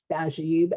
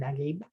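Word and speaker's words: Naguib: This is the difference between Egyptian dialect and modern standard Arabic, the way they're pronounced, Najib and Nagib.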